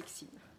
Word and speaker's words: Xim: Le nom, c'est parfait, c'est Xim. Vous l'avez bien prononcé.